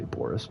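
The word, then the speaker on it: Baurus: That's a funny way to say Boris, but I think that's how you pronounce that. B-A-U, Boris. I guess that's the way to go.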